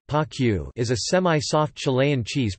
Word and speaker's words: Panquehue: Panquehue, Spanish pronunciation, Panquehue, is a semi-soft Chilean cheese produced in the Andean Aconcagua region.